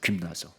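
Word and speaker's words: γυμνάζω: 그게 헬라식 발음으로는 G를 우리가 짐이라고 읽지 않고 근 이렇게 읽어요. 근. 그러니까 Y도 약간 위자 비슷하게 읽어요.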